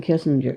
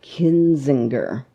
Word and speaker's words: Kinzinger: and let let me pair that with Adam Kissinger because I can't say his name kinzinger has that right did get it right yeah